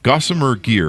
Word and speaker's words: Gossamer Gear: start your company you've got a company Gosa gossamer gear am I pronouncing that right yep Gosser gear my mom